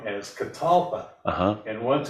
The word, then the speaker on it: catalpa: I knew there was something deeper, and They're actually misnamed. Botanist who named them mispronounced the word catawba. Catawba. And he thought that because it was a southern tree, and he's the one that registered its genus and species. And he got it wrong as catalpa.